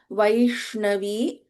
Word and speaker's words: Vaishnavi: Vaishnavi Sha. This is the Shanmukha, the way we pronounce the Sha in Shanmukha. So Vaishnavi, na, ta, tha, da, dha, na, the fifth letter of Tavarga.